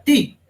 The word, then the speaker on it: ti: O sea, la costilla en sumerio se pronuncia ti.